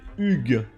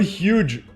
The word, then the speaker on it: Hugues: You pronounce it Hugues. Hugues. Oh my god. Not huge. Hugues. Yeah, like hug, but Hugues.